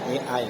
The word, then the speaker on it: AI: Ii tulisannya AI ya. Dibacanya I.